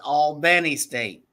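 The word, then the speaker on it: Albany State: order go for it when you say Al it's Al Benny state remember you gotta say it right correct yeah you gotta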